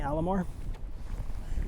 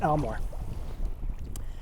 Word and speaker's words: Almore: I think I've been pronouncing it wrong. the nonzero chance. I've been saying Alamore and I think it's Elmore.